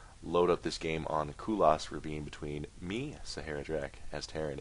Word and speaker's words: Kulas Ravine: That's how it's pronounced. Kulas Ravine.